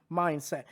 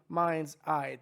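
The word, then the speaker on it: MindsEye: it apparently uh because I keep saying mindset I mean Mind's Eye this game looks like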